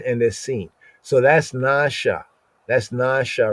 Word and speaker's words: נשא: in the English and ignoring the diacritical marks like the N over the A is a long A sound, right? The stroke over the A over the S is like an inverted arrowhead, and that means that that S is syllabated.